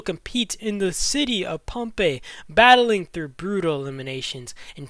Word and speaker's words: Pompeii: in question one pompe I think it's pronounced pompe not pompy okay I got it